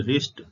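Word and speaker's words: wrist: का उपयोग हुआ है परंतु चरण में भी साइलेंट है डब्लू को देखिए डब्लू आर एसटी रिस्ट रिस्ट का के को देखिए नॉलेज नॉलेज का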